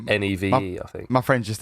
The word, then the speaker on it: Niamh: What about Neve? How'd you spell Neve, Rob? I know this because NIAMH. Oh. I do know a Neve that is just like NEVE, I think.